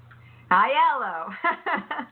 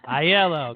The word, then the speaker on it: Aiello: to the show how do you say your last name hi yellow a yellow got it Aiello how's